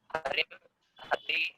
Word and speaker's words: हरिः: हरि ही, तो यहाँ पर विसर्ग है तो विसर्ग बोलना है, नहीं तो हरि बोलेंगे तो वो हिंदी में हरि हो जाएगा।